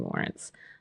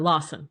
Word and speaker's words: Lawson: And so I had fun creating Lawrence. Uh or Lawson. You got me saying it wrong. Oh, I'm sorry. I said Lawrence. I said it wrong. You're right. It's Lawson.